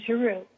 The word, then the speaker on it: Giroux: Did I pronounce that right, Judy? It is Farrar, Straus and Giroux, yes.